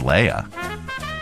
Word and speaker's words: Leia: 99.9% of the time on Earth, it's Leah. 99.9% of the time on Aldderon, it's Leia.